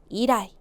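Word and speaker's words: 以来: 미나상 발음이요. 때 이라이.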